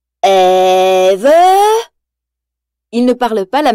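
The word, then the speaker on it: Ève: Le petit robot blanc s'appelle Eve et Wall-E prononce son nom en allongeant toutes les lettres. Eve!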